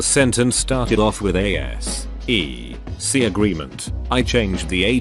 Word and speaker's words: SEC: I sent her an email from a Google link stating that An was correct since S E C was pronounced S E C. If it had been pronounced Sec, then A would have been correct.